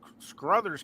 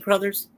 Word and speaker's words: Crothers: Scatman Scruthers' character, oh God, I'm mispronouncing his name. Scatman Crothers? Yeah.